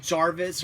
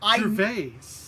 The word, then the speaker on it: Gervais: I said Jarvis or something like that. Gervais. I know. Obvious, or Gervais, whatever. Like, I said it wrong.